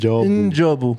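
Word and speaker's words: N'Jobu: Njobu. Yeah. I don't think you pronounce the letter, you pronounce the sound.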